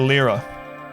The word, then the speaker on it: Lyra: right here's lyra adam it's pronounced the lira we don't care